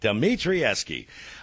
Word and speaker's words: Dimitrieski: Dimitrieski. Thank you, man. I was saying it correct all day. I even got it phonetically you here. Had it perfect. You had it perfect. Dimitrieski.